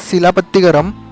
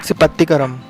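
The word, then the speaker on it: Silappatikaram: Actually अगर देखा जाए तो स्पेलिंग इज सिलापत्तिगरम, नॉट सिपत्तिगरम.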